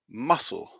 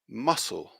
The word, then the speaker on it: muscle: at it is that the c is silent because it's not a hard c sound another way of thinking